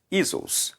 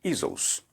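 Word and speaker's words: Ἰησοῦς: Olha só, aí ficou lá, Isos, assim que se pronuncia, né? Isos.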